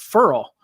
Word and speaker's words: Ferrell: that we discovered that he pronounces it Furl, Cleveland, Furl. And so, I don't care how you say it, if it's Ferrell, Furl, whatever.